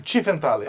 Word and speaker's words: Tiefenthaler: E qual é a pronúncia correta do seu sobrenome? Tiefenthaler.